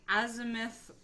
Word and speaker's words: Azimuth: Azimuth. No, that's right. That was perfect. I'm a scientist, guys. I know how to pronounce scientific things.